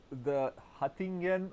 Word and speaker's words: Hattingen: So let's say that the Hattingen was, is it, I pronounced it correctly, Yeah, fine.